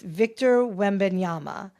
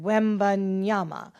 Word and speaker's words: Wembanyama: aka the alien, and I am going to pronounce his last name. So it's Victor Wembanyama. I think I say that, Wembanyama.